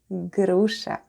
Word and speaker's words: груша: Grusha, grusha. Let's spell the word grusha. The first sound is g, then we have r, then goes u, sh, and a. And all together it's grusha.